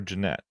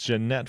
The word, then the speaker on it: Janette: What they remembered is you called you called her Janette and that's how you pronounced it. It's not Janet, it's Janette for her.